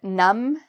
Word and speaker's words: numb: When you see MB together, the B is usually silent.